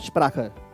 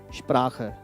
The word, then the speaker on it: Sprache: Now, why we are pronouncing it long? Because CH is considered as the one consonant. It's not Sprache. Sprache.